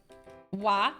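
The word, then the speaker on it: は: Wa. Remember, it's pronounced wa, but it's actually ha.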